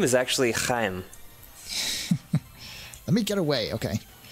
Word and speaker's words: Chaim: And his name is actually Chaim. Let me get away, okay. Chaim? His name is Chaim Witz. Wait, what is this? Shiny item. It's spelled C-H-A-I-M.